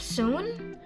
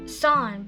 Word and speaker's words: soon: the next we have soon soon is a long vowel we have a double O in the middle o o s o o n so we pronounce u and Colin not Sun but soon it's a